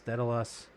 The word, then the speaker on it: Daedalus: of call this one what how do they spell it d a wait d a e d a l u s dedice uh what are we calling it as a